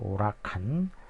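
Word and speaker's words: huracán: 스페인어에서는 H는 이제 발음이 안 되기 때문에 그래서 우가 되겠어. 우라칸.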